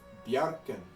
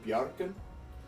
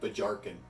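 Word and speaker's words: Bjarkan: For the J in Bjarken, it is a Y sound, like ya, ya. And to say it with a J is a bit odd because it sounds like Bajarken.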